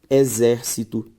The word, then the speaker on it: exército: por exemplo acompanhe comigo exército como por exemplo tônica são palavras que se você acompanhar comigo V veja só ao separar exército e exer cito a sílaba tônica zer ou seja anti penúltima sílaba tônica portanto proparoxítona e